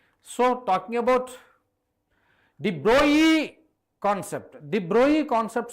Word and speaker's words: de Broglie: Whereas Broglie, de Broglie or de Broglie, okay, it's not de Broglie. That's a wrong pronunciation.